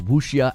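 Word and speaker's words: wuxia: They said maybe it could create a new identity that is Wooia action game. Like, it's spelled Wukia, but I'm I think you're supposed to say it Wooia.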